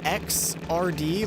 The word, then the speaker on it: Xrd: a number, they put XRD, like you know how first would be 1 ST? Right. Like it's X and then superscript RD, and it's pronounced Xrd.